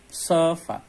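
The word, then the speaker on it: sıfat: Nggak pakai titik, bacanya sifat.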